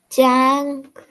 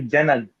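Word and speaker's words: جنگ: Jang, Jang. So we say jang. We don't say janag. Jang. Don't say jang. We say jang. So the nasal sound in between.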